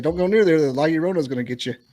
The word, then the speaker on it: La Llorona: Using the bathroom, like hearing y'all mispronounce La Llorona so bad. I think It's called a La Llorona.